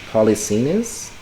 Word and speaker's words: Polixenes: And because of this, am I pronouncing it right? Polixenes?